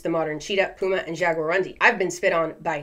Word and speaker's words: jaguarundi: I gotta see how that's pronounced jaguarundi this includes the Puma the cheetah and the jaguarundi jagarundi is a smaller Wildcat native to Central and